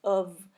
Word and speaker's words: have: So the pronunciation here, we don't say I could have become, but we try to link these the first two words together, the modal with the word have, and we will pronounce the word have as of.